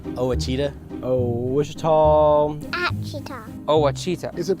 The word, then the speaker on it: Ouachita: How would you pronounce it? Ouachita. Ouachita.